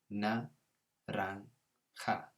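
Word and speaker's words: naranja: yellow this color is so remember that j goes to a kind of h sound na rang ha so just like in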